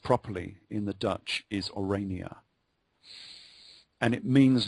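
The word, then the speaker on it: Oranje: you about her name was orania and orange pronounced properly in the Dutch is orania and it means not just orange of course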